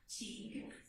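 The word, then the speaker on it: Tague: Pronounce that for me. Teague.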